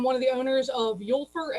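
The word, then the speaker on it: Úlfur: of the owners of yulfer and leather blocker or for the americans that can't pronounce anything from any other countries lear blocka which basically means wolf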